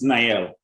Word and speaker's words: Nyelle: six three because uh that's how that works nael and that's spelled n y e l l e so